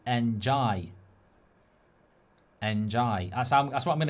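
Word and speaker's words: Ndiaye: Riley, our producer, is saying, I think it's pronounced Njai.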